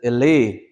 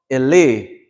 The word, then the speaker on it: Ili: Illi, it sounds like illi, but this is Ili. So you hear the difference? This is Ili. But to die or to be dead is Illi. Illi, which is spelled Illi. Two L's. You hear that consonant's being held out?